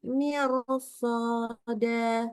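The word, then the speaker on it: مرصادا: dan huruf sebelumnya kasrh Kalau ketemu sama huruf istila harusnya dibaca tebal kan tadi akhirnya kita baca tipis ya jadi harusnya kaat Mir kanat mirsod kita baca kanat mirs ya jadi hati-hati bacanya tidak boleh tipis yang itu ya memang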